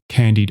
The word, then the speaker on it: candied: The word candied, as in candied orange, includes the letter if with its tense pronunciation since it is at the end of the word candy.